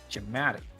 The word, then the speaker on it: dramatic: you you you um you push the second syllable not the first Sy yeah dramatic dramatic dramatic dramatic it's